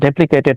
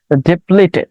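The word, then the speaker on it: depleted: ডেপ্লিকেটেড here used as participle, participle হিসেবে ব্যবহার হয়েছে, বাট ওকে ডেপ্লিকেটেড নট, আমি আসলে ভুল উচ্চারণ করছি। ডেপ্লেটেড, ওকে ডেপ্লেটেড দ্যাট মিনস আপনি বলতে পারেন ডিক্লাইন্ড।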